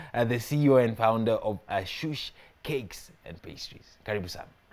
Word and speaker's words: Ashus: And for your dessert table, I have the CEO and founder of Ashus Cakes and Pastries. Karibu sana. Asante sana. Did I pronounce the first part correctly? Kind of. Ashus. Ashus.